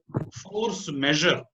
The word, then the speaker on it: force majeure: And the word force majeure, there is an interesting thing. The word force majeure is actually a French word meaning superior strength. In fact, its pronunciation is force measure, not measure.